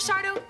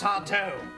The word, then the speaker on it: Sardo: you are you Mr sardo that's sardo no Mister Accent on the D so what are you